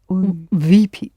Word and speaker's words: выпить: Yes, pronounce it hard, please. Выпить.